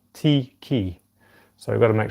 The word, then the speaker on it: tiki: The pronunciation for that is not tiki, it's tiki, because the I, and this is something I just realised myself, the I in Te Reo Māori is pronounced E, tiki.